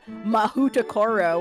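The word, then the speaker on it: Mahoutokoro: And don't forget don't forget that she that the Japanese wizard school is called Mahutakoro, which is actually how she said they pronounce it, which is actually just a up version of Maho Toko, which just means magic place.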